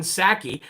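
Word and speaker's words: Psaki: wannabe press secretary jen sackey the p is silent just like in president with resident biden uh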